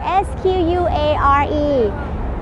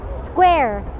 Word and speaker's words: square: วัสดีค่ะวันนี้อยู่ที่ Times Square นิวยอร์กซิตี้นะคะวันนี้จะมาสอนคำว่าสี่เหลี่ยมแล้วก็บีบค่ะสี่เหลี่ยมสะกดยังไง S Q U A R E แล้วก็คำว่าบีบคือ S Q U E E Z E นะคะออกเสียงแบบนี้นะคะสำหรับคำที่เป็นควบกล้ำ square square แล้วก็ squeeze squeeze S Q U ออกเสียงเป็นเซเกเวนะคะแล้วก็ตามด้วยเสียงสระค่ะอีกครั้งหนึ่งนะคะสี่เหลี่ยมจัตุรัส